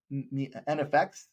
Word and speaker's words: NEFFEX: NFX. NFX, I believe, is how you say that.